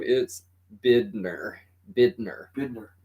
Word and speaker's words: Bidner: say it, and everyone always thinks Bitner. that, yeah, they're always thinking Bittner. No, No, there's no T's in it. There was no no, T no, at so all. it's Bidner.